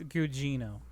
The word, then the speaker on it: Gugino: It's Gugino. Gugino. Oh. You added some syllables.